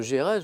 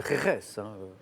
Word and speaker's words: Jerez: J'ai prononcé Gérèse, je pense que c'est Jerez.